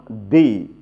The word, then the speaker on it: the: এই পাঁচটি ভাওল এর পূর্বে দি উচ্চারণ করতে হবে। যেমন দি এন্ড, দি এন্ড। কেন এন্ড? কারণ এই ভাওল। দি আউল, কেন দি? দা কেন নয়? কারণ ও ভাওল, এই কারণে দি হবে। এখন কনসোনেন্টের পূর্বে দা উচ্চারণ করতে হবে। যেমন দ্য খাও, দ্য খাও, এখানে C consonant. দ্য ম্যান, দ্য ম্যান, এখানে দি হবে না, কিন্তু দ্য ম্যান হবে, কারণ এম কনসোনেন্ট।